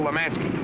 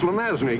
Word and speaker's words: Lemansky: He's going to knock off, kill Lemansky. He's pronounced Lemazny, Gibbs.